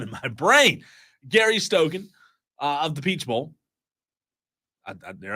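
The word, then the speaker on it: Stokan: Gary Stoken of the Peach Bowl.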